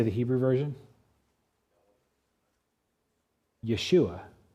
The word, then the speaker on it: Yeshua: Yeshua. Now, Jesus, of course, is a Greek version of a name. Do you know how you say the Hebrew version? Yeshua.